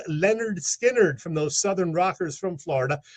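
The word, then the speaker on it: Lynyrd Skynyrd: coming at number two that amazing debut release pronounced Leonard Skynyrd from those Southern rockers from Florida with four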